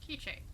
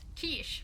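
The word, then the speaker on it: K'iche': K Gods okay so that's how you're pronounce it kich not Kish which is what I've been saying and what of the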